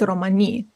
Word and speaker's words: Romani: Romani isn't technically even the correct pronunciation, it's Romani.